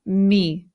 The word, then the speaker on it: me: Now this word is not me. In Spanish the e always makes the sound e. So this word becomes me. Me.